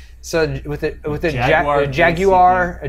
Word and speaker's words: Jaguar: with a with a Jaguar a j a Jaguar Jaguar yeah Jag pronounce it like they pronounce it in the Jaguar Jaguar in the commercials for the cars they say every syllable of of the Jag